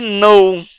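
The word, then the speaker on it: know: na frente do Now o k não é pronunciado mas a palavra muda de pronúncia Então essa segunda palavra é no não quer dizer saber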